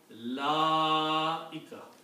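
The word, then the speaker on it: أولئك: because of this, so we have to pronounce la-ika. So make it short here, make it long here. Most of us do the other way around.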